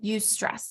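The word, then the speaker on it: eustress: good thing this type of stress is called use stress and I'll spell it for you e-u-s-t-r-e-s-s-u stress so I'm going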